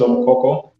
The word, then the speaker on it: Omokoko: very much Mr Ali as you've said correctly and pronounced it correctly my name is omokoko and I come from